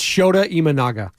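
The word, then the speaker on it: Shota Imanaga: watched Network in like over a month it's shoda imanaga imaga shoda imanaga oh that's easy so shoda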